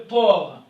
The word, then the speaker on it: porc: Le porc, ok, le porc, c'est ici ne se prononce pas.